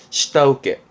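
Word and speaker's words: 下請け: 발음은 시다우케. 시다우케라는 게 그 하청을 받아서 일을 맡아 하는 하청을 이렇게 쓰게 됩니다. 발음 또한 챙겨두시죠. 시다우케, 시다우케가 되겠습니다.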